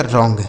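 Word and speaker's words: wrong: डब्ल्यू आर ओ एन जी तो डब्ल्यू यहां silent है। इसको नहीं पढ़ा जाएगा। आर से हो गया र। ओ एन जी का उच्चारण अंग हो गया। इसे पढ़ा जाएगा रॉन्ग।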